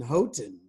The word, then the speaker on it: Houghton: Listen, I like that you did the American pronunciation, Houghton. Well, we say Houghton, don't we?